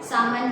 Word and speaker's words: salmon: बी, अगर इनके पास सामन रहा, सामन you will call it एज सामन, okay, L is silent.